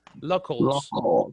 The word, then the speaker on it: locals: pronunciation of this locals it's almost like loco but you open the second oh like similar to an ah but it's not enough locals locals locals yes do